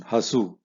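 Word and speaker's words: ಹಸು: Hasu is an example of a word which has got 2 syllables, Ha-su, and both are Harswa, meaning they are not Dirgha. It's not Hasu. Hasu, there is no issue.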